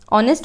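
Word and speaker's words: honest: है नेस्ट होता है या ऑनेस्ट होता है ऑनेस्ट होता है क्योंकि एच क्या होता है साइलेंट होता है है ना तो ऑनेस्ट ऑनेस्ट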